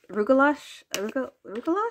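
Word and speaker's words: Rugelach: I think this is the Rugula. Rugalash?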